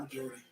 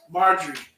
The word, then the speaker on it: Marjorie: Not majority. Her name is spelled. Looks like majority. Her name is Marjorie.